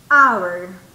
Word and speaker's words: hour: Si ustedes escuchan la pronunciación, hour. Es como una vocal, ¿verdad? Hour. Y usted me va a decir, teacher, pero ¿y la H? Sí, se escribe con H, pero la pronunciación es con vocal. Hour. En este caso, en esta palabra, la H es silenciosa, no se pronuncia.